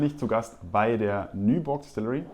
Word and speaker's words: Nyborg: Heute bin ich zu Gast bei der Nyborg Distillery. Am I pronouncing that correctly? Yes, it's correct.